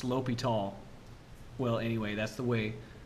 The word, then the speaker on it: L'Hôpital: So L'Hôpital, that's a French name, and that O has a diacritic over it, a caret, a pointy hat. And that's pronounced L'Hôpital.